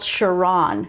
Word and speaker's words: Chiron: you know something called Chiron that's not how I pronounce it it's CH iro N and it's all about